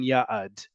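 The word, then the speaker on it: יעד: It just sounds a little bit longer than yad.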